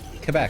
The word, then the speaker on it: Quebec: Quebec. Every Yeah. Quebec like with a K.